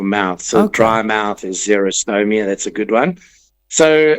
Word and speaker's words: xerostomia: Zero meaning dry like X X E R O like a Xerox machine.